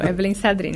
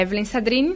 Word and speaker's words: Evellyn Sadrine: Agora acertou, Evelyn Sadrini. É uma pronúncia um pouquinho complicada. Tudo bem, Evelyn? Bom, tudo bom. Meu nome é Evelyn Sadrini, tenho 30 anos, sou mãe de um bebê